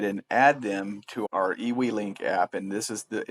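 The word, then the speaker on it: eWeLink: So, we are now ready to go ahead and add them to our EW link app. And this is the it's spelled EWE L I N K.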